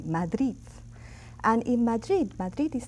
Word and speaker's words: Madrid: how I pronounce it Madrid Madrid in Spain the last D the final D of that word is pronounced very strongly Madrid and in Madrid Madrid